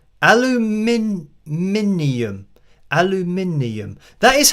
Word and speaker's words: aluminium: we have in there I mean we say it how it's spelled aluminium aluminium that is how